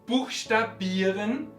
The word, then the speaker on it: buchstabieren: Todos los verbos que terminan en ieren, como buchstabieren, passieren, reparieren, son palabras con la terminación que proviene también del francés y en este caso siempre ponemos el acento en la penúltima sílaba. Buchstabieren. Muy bien, hemos aprendido todo sobre el acento en alemán.